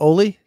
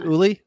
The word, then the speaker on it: Uli: Her name's not Oli? No, it's not. Oh, it's Uli? Oh. It's Uli, yes.